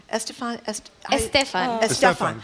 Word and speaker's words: Estefan: tell us, I always mispronounce the last name. It's Estefan. Estefan. Gloria Estefan.